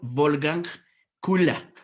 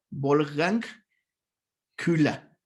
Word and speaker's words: Wolfgang Köhler: El primero se pronunciará como está ahí escrito, Wolfgang Kula. Aquí lo tienen. Wolfgang Kula.